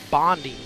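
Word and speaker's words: Bonde: Um and then the other uh player that they have, I believe it's pronounced Bondi. B O N D E, I believe is how you pronounce it.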